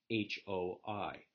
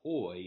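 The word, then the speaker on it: οἱ: spell it H-O or H-O-I. So in the nominative singular, it's not os, it's ha. And in the nominative plural, it's not oi, it's hoi.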